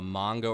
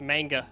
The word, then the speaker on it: manga: of a of a mango or an anime human being um that's tough I do read a lot of manga or as we call it a South manga mango ah you're you're a manga pronunciation house uh I've been corrected by my New York girlfriend into saying manga now oh I I was